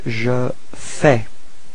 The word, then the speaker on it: je fais: So first form for je, it's je fais. Okay, so final S is not pronounced.